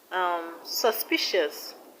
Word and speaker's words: suspicious: Suspicious, the stress is on p, p. Suspicious, suspicious. Now religious, the stress is on li.